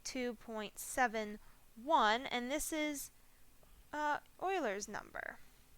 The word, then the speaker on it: Euler: and this is uh euler's number you'll also hear his name pronounced euler it's kind of a personal preference okay you might also